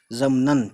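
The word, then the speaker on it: ضمناً: तो ज़ाद मीम नून, नून पे अलिफ तो है लेकिन अलिफ पढ़ेंगे नहीं, क्योंकि अलिफ के ऊपर दो दो जबर लग जाता है, तो ये अलिफ साइलेंट हो जाता है, नून पे नन पढ़ देते हैं फिर, ज़मनन, ठीक है, ज़ाद का।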